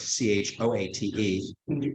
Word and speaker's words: Choate: school I was at was called CHOATE, CHOATE. But the word inchoate makes it sound like you did. And actually, there's a connection. When I was hired to go to CHOATE, it was part of